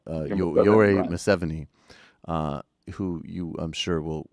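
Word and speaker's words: Yoweri Museveni: The president of Uganda, the dictator, right, Yoweri, right, Museveni, who you, I'm sure, will correct me because I'm confident I mispronounced at least part of that, and I apologize.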